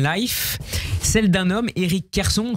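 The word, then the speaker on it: Kherson: histoire biggers and life celle d'un homme erriic Kerson prononce comme ça Kerson la quarantaine triste encore trop jeune pour être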